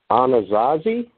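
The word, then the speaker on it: Anasazi: that we could cover in the show was anazazzi yes thank you am i pronouncing that right yes you are yeah okay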